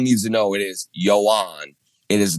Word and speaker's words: Joan: he it everyone needs to know it is Yoan.